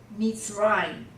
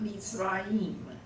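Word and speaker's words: מצרים: Nation or people is um um and rock is sewer sewer and Egypt meets rhyme meets Brian now again that's really only two syllables Meats rhyme it's not meets Rahim it's meat fried okay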